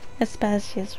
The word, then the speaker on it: Aspasia: Aspasia's right. Aspasia. I don't know why I said her name wrong.